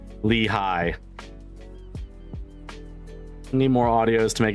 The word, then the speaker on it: Lehigh: It's pronounced Lehigh Valley. Oh, I didn't see the H. I was seeing L-E-I-G-H. I didn't see the middle H. Lehigh.